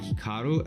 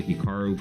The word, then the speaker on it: Hikaru: now even myself when I pronounce my name it's definitely more Americanized versus Japanese certainly if I was pronouncing it correctly it would be more like Hikaru as opposed to Hikaru but I've spent so